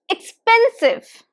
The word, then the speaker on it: expensive: Pen Save expensive expensive and where is the stress the second syllable so there are three syllables stresses here on the second syllable so it's expensive repeat after me expensive and can you notice that this is not expensive it is expensive expensive the sound is of e e here a short e expensive repeat after me